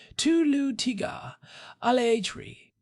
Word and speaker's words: Tulu Tigalari: of the people who built Chichanita or the Tulu Tigalari script from southern India which has this beautiful intricate structure. By the way, I practiced that pronunciation. Tulu tigar alri.